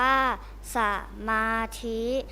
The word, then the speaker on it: สมาธิ: เสนอ คำ ว่า สมาธิ สมาธิ อ่าน ว่า สมาธิ หมาย ถึง ทำ จิต